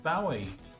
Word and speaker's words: Bowie: Black Sabbath and David Bowie, or Bowie, however you want to pronounce it, both had a song with the same name.